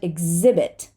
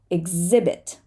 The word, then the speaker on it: exhibit: there are cheetahs sometimes we do not say the H after an X exhausted exhausted and exhibit exhibit right and that is